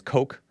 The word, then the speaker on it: Koch: they served under koch which was how they pronounced it spell spelled the same way as coke like the koch brothers koch and dinkins you